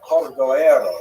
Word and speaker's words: Cordovero: his Matseva, his gravestone, it's Cordoero. It's a Portuguese spelling, but it's kind of a strange thing to pronounce in Hebrew, so it was sort of mangled into Cordovero, and that has become the standard, even though it is probably not correct.